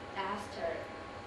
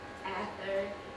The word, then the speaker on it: Esther: I think it is difficult to pronounce the Esther, most people call me Ether or Easter, but that is wrong. No H sound.